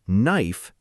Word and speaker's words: knife: I remember seeing the word knife and thinking, "Why is there a k there? Nobody says the k."